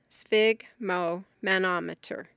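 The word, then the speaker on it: sphygmomanometer: Spig which rhymes with fig relates to blood. Broken into its parts. It is spig mo manometer.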